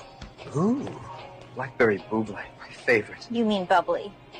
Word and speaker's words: Bublé: Ooh, Blackberry Bublé, my favorite. You mean bubbly? No, I mean Bublé. You're Michael Bublé, that's a bubbly. She's right, Michael Bublé. It's pronounced Bublé, I know, thanks.